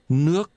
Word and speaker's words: nước: Water is pronounced with a rising tone. Nước.